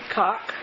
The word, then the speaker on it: Cocke: Cocke. One chicken with a quiet E.